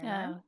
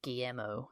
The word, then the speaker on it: Guillermo: Guillermo. Guillermo. I don't know. Say it all fancy. Guillermo. Say it the Spanish way. Jacob Elordi was saying Guillermo.